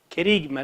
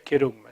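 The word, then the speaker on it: kerigma: Querigma le dicen algunos, pero en realidad se debería pronunciar querugma.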